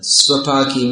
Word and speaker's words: Svapaki: So get your pronunciation right. Svapaki means one who is very strict in his eating, and Shvapaki means they eat dogs.